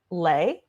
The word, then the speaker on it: Le: people get it wrong but my last name is lay like it's l e and a lot of